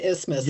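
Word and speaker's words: isthmus: They say the original spelling with the th was retained, but pronunciation just became to ismas like asthma.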